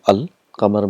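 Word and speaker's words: القمر: So here the sound of lam is pronounced. For example, we have qamar, and we got this definite article al. Qamar means moon. So when you get al plus qamar, it becomes al-qamar. So all the letters are pronounced clearly, al-qamar.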